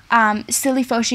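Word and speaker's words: 室利佛逝: Shilifoshi is the way it is pronunciated by the Chinese, and today is known as modern-day Palembang, which is another city within Sumatra.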